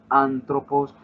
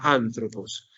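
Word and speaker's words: ἄνθρωπος: colocar el acento en una de las tres últimas sílabas. Colocamos la palabra antropos. Entonces, si la voy a dividir en sílabas, sería antropos. El acento en esta palabra ya lo conocemos porque conocemos en el vocabulario la palabra. El acento principal es este, o sea que la fuerza intentaría hacerla acá.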